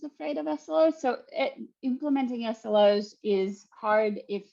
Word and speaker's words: SLO: big bad SLO and I won't say big bad slow I'll say big bad SLO because we're having a debate about pronunciation right now um I'll start with